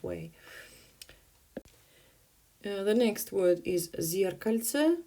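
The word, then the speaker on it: физкультура: the next word is Z our culture with the stress on the first syllable zere Cal say Z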